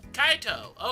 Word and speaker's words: Kaito: Kaito, okay.